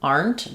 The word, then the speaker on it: aren't: This is the R sound like car. We aren't. We aren't We aren't going. We aren't having any. They aren't talking. They aren't. Um, the Tends to be unreleased. Um, depends on what's coming next, but it's usually just kind of like a short N with a stop T.